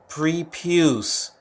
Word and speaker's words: prepuce: that what is that I pronounce this prepuce oh wow freak what